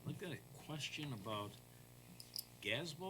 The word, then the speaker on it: GASB: got a question about gasbo or gasby what which was Gatsby is what you're saying how you pronounce it yep the governmental accounting standard sport yes okay and they changed it from 87 to 96.